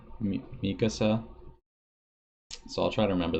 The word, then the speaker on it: Mikasa: Jean is pronounced Jean, and Mikasa is pronounced Mikasa. Mikasa.